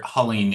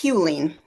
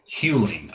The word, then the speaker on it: Huling: And I just want to make sure Hulling is that the correct pronunciation? It's Hewling. Huling. Okay.